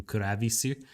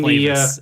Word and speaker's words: Clavis: I know that in Japanese they pronounce his name Kuravisu, but you mean Clavis is what I read the elevator operator.